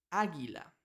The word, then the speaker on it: águila: es silenciosa Entonces cuando tenemos G u e pronunciamos g por ejemplo la palabra guerra lo mismo con gu ui águila pero cuando tenemos diéresis dos titos en la